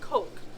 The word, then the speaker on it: KOK: And then I believe is it nuchal bump or KOK cock? Is it? Nutshell? Yeah, oh, nutshell hump. I believe somebody told me it's pronounced Coke.